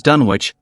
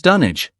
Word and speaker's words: Dunwich: While it may initially seem straightforward to pronounce it as Dunwich, Lovecraft's enthusiasm for English towns led him to select names based on English locales. Thus, Dunwich, located in Suffolk, England, is actually pronounced as Dunwich.